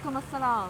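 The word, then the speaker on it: wa alaykum as-salam: walaikum assalam.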